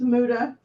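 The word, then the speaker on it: Muta: It's Muda.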